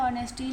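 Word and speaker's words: honesty: जैसे ऑनेस्ट है तो एच से लिखा है ऑनेस्टी लेकिन हम उसे ऑनेस्टी पढ़ते हैं। उच्चारण के बेस पे हम उसे एन लगा एन ऑनेस्टी। ठीक है?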